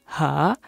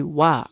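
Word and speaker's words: は: kita perhatikan di sini ada beberapa huruf yang kita tulis ha Namun kita baca sebagai wa Ini adalah cara baca spesial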